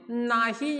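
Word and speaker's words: know: माहित आहे नो म्हणजे नाही या अर्थाने आपण हा वर्ड वापरत असतो आणि के एनओ डब्ल याचाही प्रोनन्सिएशन नो असाच होतो बट मात्र याचा मिनिंग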